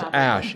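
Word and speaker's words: Asch: Yes, it's Ash, A-S. The S, there's a C in it, and no E at the end.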